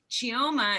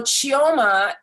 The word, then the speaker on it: Chioma: everyone thank you and welcome geoma am i saying that correctly it's such a beautiful name and i would hate to not say it correctly you're saying it perfectly perfectly thank you how do